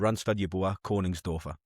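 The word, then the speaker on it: Yeboah Königsdörffer: you pronounced it producer Sophie can speak fluent German so I did check with her to get me pronunciation right so yeah that that's what I've been told yoa Corning doer is his name so is there any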